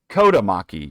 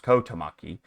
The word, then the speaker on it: Kotamaki: It was in fact Kotamaki. You got the Maki part right, just not the first part. It was Kottomaki and also near Coralati